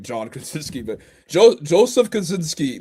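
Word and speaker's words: Kosinski: Joe Joe what's his last how do you pronounce his last name? Joseph Kazinski. Kazinski.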